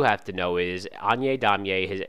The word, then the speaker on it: Daumier: Now, on to another realist painter named Damier, sorry. His name looks like Daumier, all right, but that's not how it's pronounced.